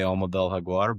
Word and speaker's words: Alma del Jaguar: I'm uh you know, I I'm proficient in Spanish and can say Almadel Haguar, but um I like to say if if Spanish isn't your native tongue, just call it Jaguar. It's spelled the same in both languages.